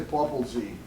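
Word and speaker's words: Popalzai: And when he says Populzai, they don't, you know, somebody made a comment about the pronunciation. They say Populzi.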